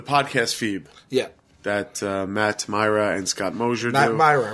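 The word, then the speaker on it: Mira: I I've heard Chris Hardwick say Matt Myra sure because that's his name but I heard you say Matt mea when a baseless accusation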